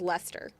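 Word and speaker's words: Leicester: Again, Lester, even though that doesn't look like it. And Lemonster. This is Lester.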